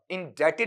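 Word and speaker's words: indebted: करना इंडक्टेड मत पढ़ना ये बी इसमें क्या रहेगा साइलेंट रहेगा तो इन डेप्टेन होगा या इन डेटेड होगा इन डेटेड वहां पर बोला जाएगा और इन डेटेड को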